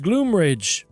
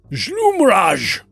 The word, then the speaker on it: Gloomrage: And she goes, it's not even pronounced Gloomrage. Historically, It isn't? no, it's Gloomrage.